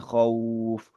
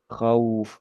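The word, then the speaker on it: خوف: Bacaan kho itu diucapkan fathah ya, ya gitu ya. Tapi meskipun tebal tapi tetap fathah itu. Kho, khauf, khauf gitu ya. Kemudian U-nya juga diucapkan secara sempurna juga ya.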